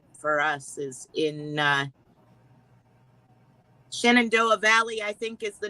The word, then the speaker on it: Shenandoah: at us being silly that's pronounced shenandoah you know what i thought that was shinato you don't like